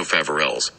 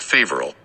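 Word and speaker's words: Faverolles: Village in the singular is thus also favorells not favorable the final s is silent in French were originally bred in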